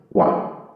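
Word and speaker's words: one: আবার আরেকটি এক্সাম্পল দেখি, গিভ মি ড্যাশ ওয়ান টাকা নোট। এখানে একটি ভাবের রয়েছে কিন্তু এই ওটার উচ্চারণ রয়েছে ওয়ান এর মতো, ওয়ান ওয়ান ওয়ান টাকা নোট, এই জন্য আমরা এখানে এ ব্যবহার করবো।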